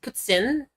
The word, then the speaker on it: poutine: it like put I think the the proper way to do it is putin right like that but I don't know it's like the pretentious like French way of doing it